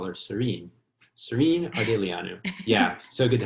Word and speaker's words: Sorinne: you for having me do not call her sardine like i did call her serene serene yeah so good to have you here